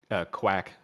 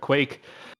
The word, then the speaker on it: Quake: And you know, both like you said, Quake, who I know I pronounced this Quack for quite a while there, but Quake, you got Quake and Squirrel here.